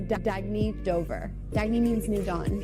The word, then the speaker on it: Dagny Dover: good you can live life intentionally oh it's pronounced Dagny Dover Dagny means new dawn it's a new dawn